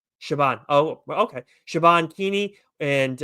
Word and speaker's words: Siobhan: Shabban. Siobhan.